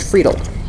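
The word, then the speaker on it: Friedl: senior attorney Jason friedel his last name is f r i e d l f r i e d l pronounced fredel uh we then have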